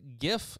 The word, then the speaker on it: GIF: why it's a hard G and not a soft G. It's not GIF.